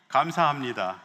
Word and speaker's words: 감사합니다: I put some pronunciation here. 감사합니다. Okay, repeat after me. 감사합니다.